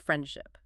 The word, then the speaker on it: friendship: So native speakers entirely drop the D. The word is universally pronounced friendship.